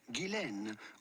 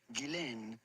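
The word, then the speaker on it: Ghislaine: French origin and in French it can be pronounced either gilen or Jen but in British as is the case for her her first name is generally pronounced Gillan Maxwell g g Maxwell gillain Maxwell Max God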